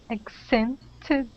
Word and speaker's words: accented: accented all right so this T instead of pronouncing that like a t change it to a D sound accented accented good okay